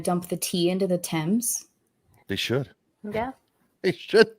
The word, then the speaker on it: Thames: you guys hate the French well it's it's pronounced the Thames I know there's a French princess yeah no yeah it's t-h-a-m-e-s yeah but it's the the Thames so no